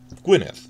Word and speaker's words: Gwynedd: Two D's together actually represents the TH diphthong sound, as in bath or the. Important for us because one of the main counties they're filming in is spelled Gwynedd, but it's pronounced Gwynedd. Understand that this means TH, you're fine.